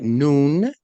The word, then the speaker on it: nun: me tell you why it's because n-u-n and you pronounce that noon can you say that